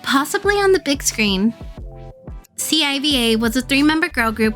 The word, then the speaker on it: C.I.V.A: The group's name is pronounced c.i.v.a. because, pronounced as a single word, it sounds like a curse word in Korean.